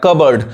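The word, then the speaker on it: cupboard: एल मंड गलत पढ़ाए अब देखिए यहां पे कप बोर्ड जैसे पढ़ेंगे गलत हो जाएगा ये पी साइलेंट है यानी कबर्ड पढ़ आएगा कबर्ड और यहां पे भी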